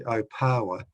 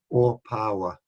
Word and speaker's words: Opawa: I'm actually a bit deaf myself, and you can imagine early settlers hearing Opawa, but not used to the pronunciation of the Māori vowel sounds, so it got corrupted into Opawa.